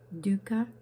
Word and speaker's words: dukkha: Dukkha is suffering.